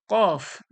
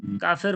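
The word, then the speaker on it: ك: মাখরাজ তারপরে কি হয়েছিল কফ কফটা কোথা থেকে জিহব্বার গড়া ওর সজাসজি তালু তালু থেকে তারপরে কি কাফ কাফ কোথা থেকে জিহব্বার গড়ার একটু আগে ওর সজাসজি তালু জিহ্বার গড়া থেকে একটু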